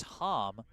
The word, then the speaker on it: Hom: He said Brookline's shortstop, number 13, is pronounced Felix Hom.